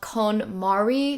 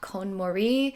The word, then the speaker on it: KonMari: so long, and her whole method is called KonMari, not KonMari.